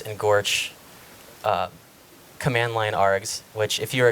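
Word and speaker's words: GOARCH: OSS in platforms with using the goose and Gorge command-line rx which if you're a gopher con that's the official pronunciation of the builds command line flags according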